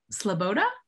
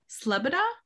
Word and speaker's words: Sloboda: last name wrong um sloboda slubida yep that's it awesome all right second try i got it right so has